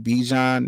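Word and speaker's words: Bijan: couple touchdowns B be uh Robinson I can't pronounce his first name bejan Robinson that's his name bejan Robinson I'm I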